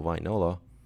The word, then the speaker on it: Wainola: As far as I know, the Finnish has the same pronunciation as it's written, so Wainola.